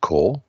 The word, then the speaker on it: corps: they spell it corpse why is it spelt like that when it's pronounced core right because it's corpse